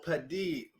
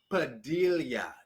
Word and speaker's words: Padilla: gusto kita by gino padille padilla is how he pronounces his name and it's so interesting